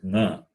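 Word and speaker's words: ङ: So here, when we say nga, it is throat plus nose, guttural plus nasal. Not nya, it is nga. So ka, kha, ga, gha, nga. This nga is like the sound in the word sang parivar, we say, right?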